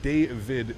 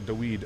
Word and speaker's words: David: Cap, my name is pronounced David, not Daweed.